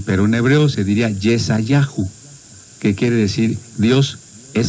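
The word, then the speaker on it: ישעיהו: Nosotros lo pronunciamos así, pero en hebreo se diría Yesayahu, que quiere decir Dios es salvación.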